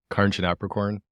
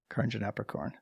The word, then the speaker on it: Karnjanaprakorn: eight I'll take it can I hear you pronounce it just so I know for future reference yeah yeah Carin apricorn Carin apricorn okay cool got it um awesome yeah well